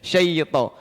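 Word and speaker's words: شيطان: Jangan sampai juga jadi syai. Coba suara antara syai beda. Syai. Iya. Sangat penting ini ya. Emang jarang-jarang ya guru tajwid yang memperhatikan pelafalan seperti ini. Syai ke bawah. Lidahnya ke bawah.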